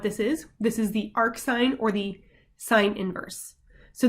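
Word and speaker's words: arcsin: So the inverse sine function is defined by, we say y equals arc sine, that's pronounced arc sine of x, or we can say sine inverse of x.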